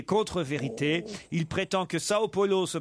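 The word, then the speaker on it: São Paulo: Et donc, en portugais, on dit bien Sao et non pas San Polo.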